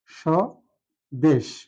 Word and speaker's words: স্বদেশ: দেশ এখানে লক্ষণীয় বিষয় স্বদেশ শব্দটির প্রথম যে বর্ণটা আছে সর্টার সাথে আছে ব ফলা কোথাও উচ্চারণ নেই ব এর এখানে হচ্ছে অনুচ্চারিত আর এই স উচ্চারণ করার সময় আমরা তালাবস্য এর মতই উচ্চারণ করছি যার কারণে আমরা উচ্চারণ যখন লিখবো তখন তালবস লিখবো আর যদি ছ এর